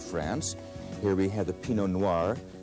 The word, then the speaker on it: Pinot Noir: Here we have the Pinot Noir. Pinot Noir, the grape that makes the great red Burgundies of France.